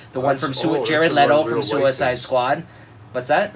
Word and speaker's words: Leto: know you know see nicely wensley no one's Leto Leto you pronounce it the right way all right yeah